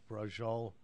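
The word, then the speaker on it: braciola: I don't like brajol. That's how you pronounce Yeah, it.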